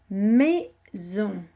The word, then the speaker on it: maison: Le z de maison s'écrit avec un S, puisqu'il se trouve entre le i et le o qui sont 2 voyelles. Donc le s fait le son z et on, on.